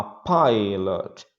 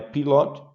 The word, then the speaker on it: pilot: Respondendo, he is a pilot. Olha a pronúncia, não é pilot, mas I.